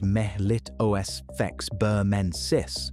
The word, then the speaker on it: Melittosphex burmensis: There's an older candidate, a fossil from Burmese amber called Melittosphex burmensis, pronounced melit osfex burmensis, around 100 million years old wasp features and branched hairs suggesting it carried pollen.